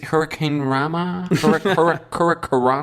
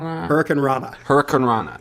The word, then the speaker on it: hurricanrana: How do you say hurricanrama? Hurricanrana. Thank you.